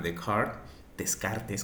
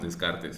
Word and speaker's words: Descartes: Si hablamos del vector posición, la posición de una partícula, por ejemplo, en coordenadas rectangulares o cartesianas, en honor a Descartes, conocido como lo pronunciamos, Descartes, en francés me parece que es Descartes, en coordenadas rectangulares, está dada por tres números.